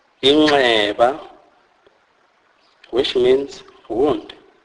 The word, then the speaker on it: inxeba: NX is pronounced as ngqi. This is a nasalized form of X click sound, e.g., inxeba, inxeba, which means wound.